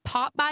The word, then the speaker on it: Pop-By: So, pop What a Pop-Bye is, it's spelled p o p b y. Two different words. People think I'm saying Popeye's like the chicken.